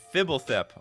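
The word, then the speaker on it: Fblthp: go try it out it's pronounced fibble thip okay i'll call it fibble fit from now on you have to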